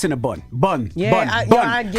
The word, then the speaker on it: Cinnabon: bondsmen, like, It's yo, been Cinnabon to me my whole life. Cinnabon. Buns. Because it's like, it's a Cinnabon. You eating a bun with cinnamon and the cream cheese. So why it's spelled B-O-N?